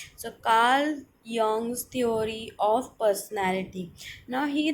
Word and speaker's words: Carl Jung: the pronunciation is not karl jung but is it is karl yong so jay is pronounced as y so karl young's theory of personality now